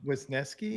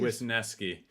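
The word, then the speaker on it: Wesneski: how do you say his last name Rob with nesky with nesky and tyown a lot more than we have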